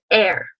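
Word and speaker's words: Р: Now our English P is the Russian R, pronounced air.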